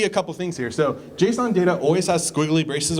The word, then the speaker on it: JSON: It's pronounced JSON, not Jason, by the way.